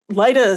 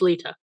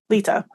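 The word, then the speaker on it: Lyta: in the way that in a way that Lida never did. Laida seemed very normal almost she took her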